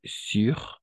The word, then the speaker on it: sur: Y ahí está la pronunciación igual. Sur con la I más o menos. Así, una cosa así. Y este ya sería la U. Sur et sous.